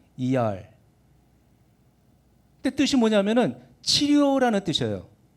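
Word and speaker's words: אייר: 뭐 한국에서는 이르 그러겠지만은 이제 그건 한국식으로 발음하는 거고 그 본토 발음은 이알 그때 뜻이 뭐냐면은 치료라는 뜻이에요.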